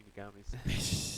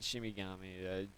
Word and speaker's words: Shinigami: The Shinigamis. No, it's not Shimigami.